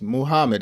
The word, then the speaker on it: Muhammad: And this is from, I believe you pronounce his first name Humad or Muhammad. That's how it is. Muhammad.